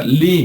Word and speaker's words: ley: con la palabra ley, nada más que en inglés se pronuncia Lee, ¿no?